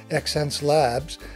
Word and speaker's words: Xencelabs: Xencelabs, pronounced sense, merges the ideas of human senses, innovation, and the laboratory approach to experimentation and progressive product development.